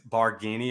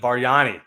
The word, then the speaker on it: Bargnani: How do you say his Barghini or whatever? You know what I'm talking about? Bargnani.